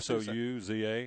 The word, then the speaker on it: Souza: Hope I'm saying it right. Yep, Souza. Souza. Souza. Yep.